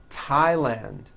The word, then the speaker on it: Thailand: Although these next words and names are spelled with a TH, they are pronounced as if they were spelled with a normal T, like that. And these words are Thomas, Thompson, Teresa, Thailand, Thames, like the river, Esther, and thyme, which is a spice.